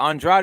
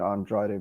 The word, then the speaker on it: Andrade: andrade or yeah yeah andrade is the way i say it but he says to say his name andre or some